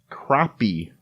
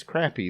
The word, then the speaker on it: crappie: a lot of people would pronounce this crappy, but since it's a fishing rod, I'm assuming it's crappie.